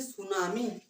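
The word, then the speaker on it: tsunami: silent रहउतला के रहउतला जेमति सुनामी सुनामी रे spelling cone T एस यू एन ए एम आई हमने टी रे साइलेंट से बोला स्यूडो पडिया पढी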